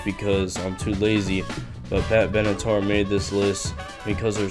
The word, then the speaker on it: Pat Benatar: Number 4, Pat Benatar. That's how I used to pronounce her name before I eventually figured out that I am a complete moron.